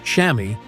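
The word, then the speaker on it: chamois: The pad inside, called a shamwa, pronounced shammy, is specifically designed to do three things.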